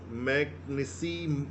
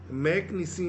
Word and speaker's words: McKinsey: Spelling लिखिएगा आप लोग, इस ये इंग्लिश शब्द है मैकनिसी मॉडल, MCKINSEY, मैकनिसी मॉडल।